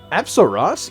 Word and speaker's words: Apsaras: I wasn't sitting here and looking at the screen and going, Apsaras? Yeah, that's how you pronounce it.